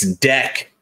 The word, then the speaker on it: Deck: It's Deck. As in Declan.